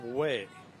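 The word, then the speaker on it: Wech: 12 for Washburn rule spells her name w-e-c-h but pronounced way for the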